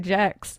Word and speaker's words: Gex: Literally said Gex, and everybody was like, no, it's Jex, it's Jex.